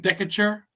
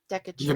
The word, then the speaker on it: Decatur: It's like Decatur or whatever it's called. Decatur.